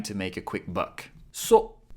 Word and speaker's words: そ: Always trying to make a quick buck そ it's pronounced, like ‘so’ in ‘soda’ See how this kana